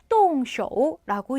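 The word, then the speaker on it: 动手: 시작하는 걸 얘기를 해요 똥 쇼라고 읽습니다 움직일 동자에 손 숫자가 들어갔네요 동쇼 한 번 더 똥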